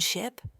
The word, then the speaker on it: ship: Words like sheep and ship or live and leave. The difference is tiny. Just the length of a vowel sound. The short i in ship is a quick crisp sound.